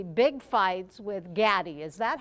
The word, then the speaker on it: Gatti: Tell us now about your next 3 big fights with Gatti. Is that how you say it? Yeah, Gatti, I told Gatti.